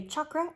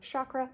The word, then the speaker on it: chakra: So that is one of the reasons that I say chakra instead of chakra. Again, doesn't matter to me how you say it, but that is how I choose to say it, and that is why.